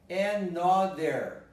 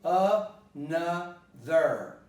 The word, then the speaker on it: another: People might go wrongly over this word by saying another. There would have been three strange pronunciations there because it is really another. So the ending occurs in mother, in father. It's always a schwa.